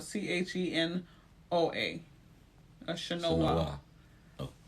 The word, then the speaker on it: Chenoa: Chenoa. So it's an N at the end? It's an N in the middle. CHENOA.